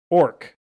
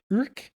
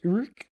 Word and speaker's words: Ourcq: Orc. That is not how it's spelled or pronounced, but Urk. It is. It's something like that. I googled it, but I forgot it. So it's Urk.